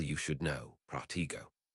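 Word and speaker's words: Protego: You should know Protiggo. When reciting the incantation, T must be pronounced with an accent, and the connection with go must be close.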